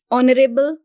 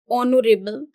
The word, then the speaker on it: honorable: a honorable man again Honorable in this word we have honorable but this H is silent so the pronunciation of it begins with o that is a v